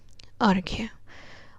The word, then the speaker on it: अर्घ्य: दूसरा एक शब्द है अर्घ्य। अर्घ्य में जब हम इसका उच्चारण करते हैं तो र का उच्चारण अ के बाद होता है, अर्घ्य। और घ के बाद है य।